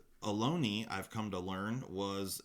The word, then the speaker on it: Ohlone: know I one was unsure how to pronounce Aloni knives I didn't know if it was alone or alone year you know how it was pronounced but alone II I've come to learn